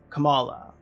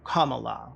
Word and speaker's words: Kamala: call her Chappelle Ruan called Kamala Harris Kamala as opposed to Kamala which is how she pronounces it Chapel rone zero